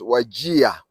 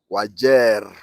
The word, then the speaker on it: Wajir: writing but people from outside nor Eastern we pronounce it as wagia wagia w a j i a I don't